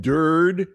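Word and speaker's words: Durde: who are, you know, Aiden Dur uh from the uh which rhymes with turd, uh the Seattle Seahawks defensive coordinator.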